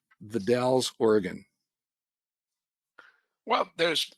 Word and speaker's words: The Dalles: By the way, you pronounce the it's Dalles, as in it rhymes with pals. The Dalles, Oregon.